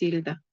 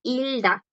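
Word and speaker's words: 읽다: Ahora, si yo convierto este verbo leer, hilda, esa G, chicos, este último bachim no suena porque le sigue esa D. Y no es porque es una D, es porque es una consonante, la bloquea. Por eso suena hilda.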